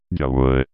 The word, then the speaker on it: Yahweh: debe haber sido Yahvé, que leído en hebreo sonaría correctamente como Yahweh.